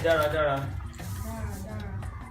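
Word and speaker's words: dára: You see the accent? Da. This one, neutral. Ra. Da. Ra. What is now left is the down tone is not existing here, so you don't have to say it. And we compress this one. For daily usage, we just say da, right?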